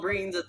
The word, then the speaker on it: Breen: No, you're Breen. Oh, Rhymes with green.